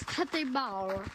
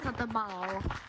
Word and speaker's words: Tete Bao: His name is Tete Bao. Gotta say it like that. Tete Bao.